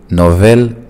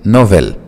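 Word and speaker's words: nouvelle: فبننطق نوفو نوفيل نوفيل.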